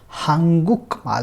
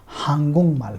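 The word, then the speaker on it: 한국말: सो the pronunciation of this word will be हांगुंगमाल, हांगुंगमाल, हांगुकमाल नहीं होगा, हांगुंगमाल होगा।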